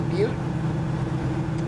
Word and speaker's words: Butte: at welcome to Montana 211 miles to Butte or but if depending on how you want to pronounce it well we haven't